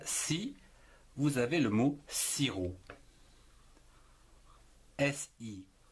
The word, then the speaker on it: sirop: Avec la syllabe si, vous avez le mot sirop. S-I, si, R-O-P, en trois syllabes, on ne prononce pas le P, du sirop.